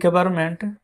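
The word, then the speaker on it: government: तो लिखेंगे है द गवर्नमेंट जी ओ वी ई आर एम एम ई एन T friends यहां पर एन साइलेंट रहता है।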